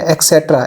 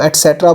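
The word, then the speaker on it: et cetera: Number 5 पे है जी, miss pronounce है एक्सेट्रा। एक्सेट्रा रॉन्ग है, आप इसको एटसेट्रा बोलेंगे। ब्रिटिश और अमेरिकन दोनों ही इस पे एग्री हैं कि ये एटसेट्रा है।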